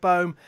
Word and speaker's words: Bohm: Is that how you pronounce it? Alec Bohm, yep.